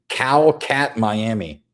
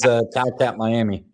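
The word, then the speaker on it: Kotkaniemi: When somebody phonetically told Brad on the feed how to say that, they spelled Cow Cat Miami. So now whenever he pulls his card, he goes, there goes Cow Cat Miami. That sounds pretty good, though. I like that. It's pretty close.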